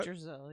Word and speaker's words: Yggdrasil: Yggdrasil, yeah.